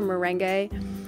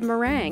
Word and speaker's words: Merengue: It's actually spelled Merengue, and I called her Merengue for the longest time. But apparently it's pronounced meringue.